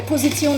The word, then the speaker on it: Position: Ich muss meine Position ändern. Position. Same word, just differently pronounced.